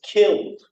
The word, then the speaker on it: killed: male open D opened or kill once again takes that Elm so it's killed or save ends in